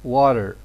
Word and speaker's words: water: Normally, we can say water, or according to some native speakers, it's pronounced as water. So here, water, deste, is pronounced as de, as a flat, because normally it is between two vowels, and the next one is not stressed.